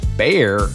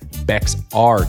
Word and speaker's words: Bexar: If you're pronouncing it as Bear, you're actually correct. Most people mispronounce it as Bexar County.